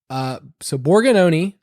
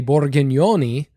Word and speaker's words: Borgognoni: So Borgononi is how you say it. In Italian, we would say Borgognoni, which is really fun to say.